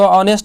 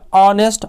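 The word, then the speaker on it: honest: देखिए, हमको ये नहीं देखना भाई हो का हिंदी, एच का हिंदी होता है हो। हिंदी नहीं, उच्चारण करना। क्या करना है? उच्चारण। तो ऑनेस्ट का उच्चारण करने पे ऑनेस्ट अ आता है, तो यदि स्वर वर्ण आता है तो वहाँ एन का प्रयोग करें।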